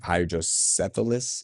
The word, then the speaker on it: hydrocephalus: of people with, whether it's autistic, right, or hydrocephalus, is that's how you say it?